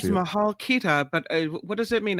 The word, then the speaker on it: Mahal Kita: Mahal Kita, is that how you say it, Albert? Yeah, Mahal Kita.